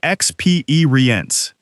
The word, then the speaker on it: experience: Also, notice the word stress in experience. We say experience. The stress is on the second part.